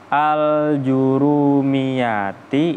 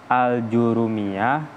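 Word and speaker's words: الآجرومية: itu lafadz Al jurumiati Oleh sebab itu apa membacanya dengan al-jurumiyati dibaca apa al-jurumiyati bidhomiljimi dengan didomakan jinnya atas dobit atau penjelasannya almutib tuqro dibaca apa Al Jurumiyah atau gymnya saja Bill Fathi dengan dibaca fathah kemudian Wafi Badin dan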